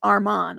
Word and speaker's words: Armand: I just needed to make sure that they say his name right, because it's not Armin, it's Armand.